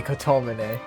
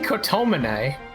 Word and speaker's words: Kotomine: that wasn't on purpose i'm not stressing any of the syllables i mean again yoga mesh would absolutely say kotomene i'm not saying kotomonai you've mistaken your